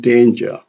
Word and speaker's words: danger: We have also primary stress on two-syllable nouns and adjectives like in danger, increase, funny, humble. Danger here has a primary stress on day, and in here, increase, funny, and humble.